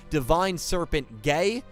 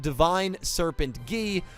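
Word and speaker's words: Divine Serpent Geh: 25 years of my life calling this monster divine serpent gay i am not going to be doing that in this video because it is actually pronounced divine serpent gee so i hope you guys had your laughs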